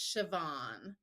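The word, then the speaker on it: Siobhan: b h n but the BH is a v sound so it's sioban yeah there's a glossery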